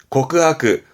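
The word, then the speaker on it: 告白: 발음은 고크하크.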